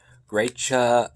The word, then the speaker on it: Gratcha: cheese but this is really good so yeah great cha that's what it's pronounced translation wise it's g-r-a-t-c-h-a that's how